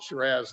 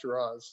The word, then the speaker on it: Shiraz: said you know what we call it shiraz not shiraz so um um that's